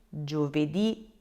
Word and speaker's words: giovedì: with lunedì, martedì, mercoledì, giovedì, venerdì, so Monday through Friday, you will need to put a little accent on that last letter.